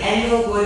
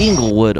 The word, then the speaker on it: Englewood: thank you for riding I don't know why that voice over we hired kept pronouncing this is Anglewood it's the Englewood Arts District now I was going